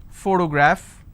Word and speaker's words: photograph: For example, if I have the word photograph, again I have first sound. So just because I have the letter P doesn't mean I can pronounce this as per always.